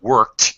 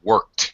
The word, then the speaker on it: worked: right to the T worked okay work yeah be more concerned with the T sound than the k sound the K is really